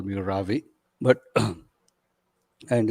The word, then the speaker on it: Ravi: Um, People who know me in my personal life call me Ravi, but and it's easy to spell. You pronounce it like ravioli, but just drop the oli, um, and that's and that's pretty much my first name.